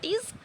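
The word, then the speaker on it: 'Tis: তো আমরা উচ্চারণ করবো একইভাবে, টিজ sweet to visit the still would where springs the first flower of the plain।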